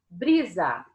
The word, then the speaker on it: brisa: Quando você chama por esse nome, você descobre qual que é a sílaba tônica. Brisa. Aqui eu falei com mais entonação, aqui eu falei mais tempo, foi o bri, certo?